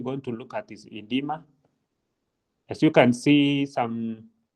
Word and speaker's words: edema: main ones we're going to look at is edma. As you can see, some people will spell it with an O. Others will just use the E, but it's the same thing. Edema, then dehydration and over hydration.